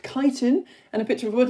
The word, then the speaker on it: chitin: Um chitin which I found out in my first lesson is actually pronounced chitin and a picture of wood louse making food and DNA and a picture of this bacteria.